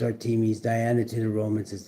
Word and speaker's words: Artemis: Artemis, pronounced Artemis, Diana to the Romans, is the Greek goddess of the wilderness, nature, childbirth, and the moon.